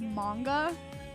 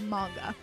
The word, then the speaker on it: manga: I feel like I'm going mozzarella when I say manga instead of manga. Because I'm like, in American English, it's manga. And if I'm saying manga, it's because I'm pronouncing it Japanese.